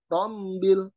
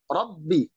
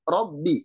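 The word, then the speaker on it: رَبِّ: ada unsur hidungnya jadi tidak ronde rombel tapi Robbi Robbi ya dia tekanannya kuat dan tidak ada unsur hidung robbil alamin nah kemudian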